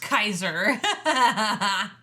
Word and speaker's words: Caesar: I love they call In the subtitles, it said pronounced Kaiser.